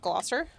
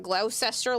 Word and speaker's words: Gloucester: Um, Gloucester is actually a Massachusetts thing as well. There is a Glouester mass. Uh, it is pronounced Gloucester. I don't know that Glousester looking word.